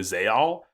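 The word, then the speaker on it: Zexal: perhaps Ark five look I learned a while back that Yu-Gi-Oh zeil was actually pronounced Yu-Gi-Oh zal so arv arcv could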